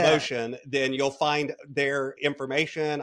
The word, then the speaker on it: Moetion: forward slashmotion and yes, spelled like it is in the show. So, m o e t i o n. I love it. Motion.